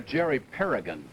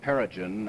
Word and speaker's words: Perrigan: helo is lieutenant commander jerry perrigan well that's a hard g not perigen as uh paul haney said and he does come